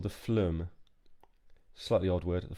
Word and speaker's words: phloem: a xylophone xylem and this is called the flume slightly odd word at the flume is how I say it hopefully that's about pronunciation xylem and phloem and they both have